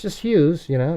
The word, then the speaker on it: Hughes: You know my people I've actually had people pronounce my last name Hughes Hug Hugghess. Hey Mr. Hugghess or Hugis? No it's just Hughes.